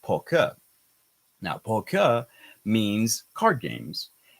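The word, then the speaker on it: 扑克: For example, in China, we have this word, which is pronounced poker. Now, poker means card games, and it sounds a lot like poker, which is a card game.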